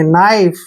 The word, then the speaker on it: knife: अब और दो एग्जांपल और देता हूं, KNIFE, कनाइफ नहीं पढ़ना है, N से पहले K आया है तो K को आप साइलेंट रखिए, यानी कि इसको पढ़ना ही नहीं है। और NI को हम क्या पढ़ेंगे? नाई, और FE का उच्चारण फ करेंगे, नाइफ।